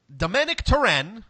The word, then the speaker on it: Domènec Torrent: but there's enough there's enough to BBS so Domanick turin which you informed me prior to jumping online that that's the actual pronunciation of the man's name as far as